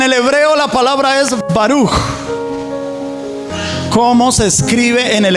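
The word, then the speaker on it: ברוך: Se escribe baruc, termina en cada kilo, baruc, pero se pronuncia como está escrito arriba, baruj.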